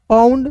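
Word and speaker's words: pound: पे थोड़ा समझ लीजिए पाउंड साउंड इसे कैसे पढ़ते हैं याद रखिएगा किसी वर्ड्स के अंतिम में ओ यू एन डी है तो इसका उच्चारण आउंड के रूप में करोगे ठीक है तो यहां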